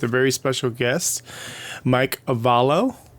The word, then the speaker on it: Arevalo: very special guest mike avalo right that's how you pronounce your last name right uh it's the spanish way is arevalo but my family don't even just say it like that so any anything is